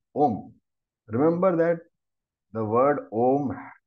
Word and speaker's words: Om: you put them together when you combine the alphabets ER and O you get o well therefore it is om it is one syllable om extend further and